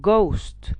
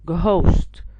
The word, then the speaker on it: ghost: not power i have ghost not ghost so here in these words the h is silent so as you can